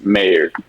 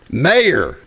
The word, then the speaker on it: Mayr: is mayor mayor mayor it is Mayor I promise you it is Mayor like Goldie Wilson and back the future